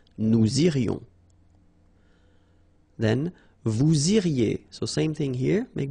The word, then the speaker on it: iriez: Then vous iriez. So same thing here, make the liaison. Vous iriez. Remember, when you get this EZ at the end, you get the sound E.